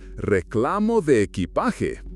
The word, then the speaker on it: reclamo de equipaje: Instead, follow the signs for Reclamo de equipaje, pronounced Reclamo de equipaje.